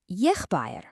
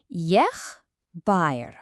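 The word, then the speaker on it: եղբայր: The word for brother is yeghbayrn. Now, this one's got a little more to it. It's yeghbayrn. Let's try that. Yeghbayrn.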